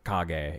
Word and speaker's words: Kage: So, so Kage is how that'd be pronounced, because I took one semester of Japanese, and I know that much.